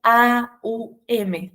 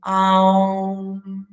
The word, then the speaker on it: Aum: También nos dice que esto que decíamos de que se escribe OM, o nosotros incluso a veces lo contamos OM, dicen que en realidad tiene que ver con, es más bien un A-U-M, AUM, AUM.